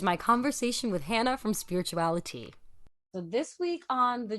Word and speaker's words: SpiritualiTEA: my Tick Tock bio pronounced like spirituality because so many people were calling me spiritual tea so thank you for